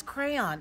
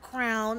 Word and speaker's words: crayon: It is crayon. It's not crown, a crown you wear on your head. It's not crayon. It's crayon. Crayon. Crayon. Crayon. Crayon. I say crown. Crayon. Like a pro. Crayon. Crayon. Crayon. Crayon. There are two syllables.